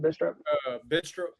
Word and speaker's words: Bidstrup: And we got Bidstrup. Is that how it's pronounced? Bidstrup? Bidstrup. Bidstrup, okay, aka, which is